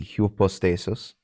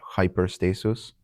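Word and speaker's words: ὑπόστασις: So it would be hupostasis. Some do pronounce it like the Y and hyper. So they would pronounce that hyperstasis.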